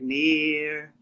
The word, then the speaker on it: Nir: they would be like near far until this day people are like near not too far near to near me it's fine yeah now until